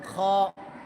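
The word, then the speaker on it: خ: জিম হা গলাটা একেবারে খর করার মত হবে। যেভাবে কাশি দেওয়ার সময় বল এভাবে হবে। খ বলতে বল সাথে বলো না বললে হবে না।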